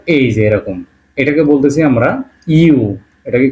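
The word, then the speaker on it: ю: এরকমটা দাগ দিয়ে এইযে এরকম এটাকে বলতেছি আমরা ইউ এটাকে কি বলতেছি ইউ এটাকে বলতে ইউ ইংলিশে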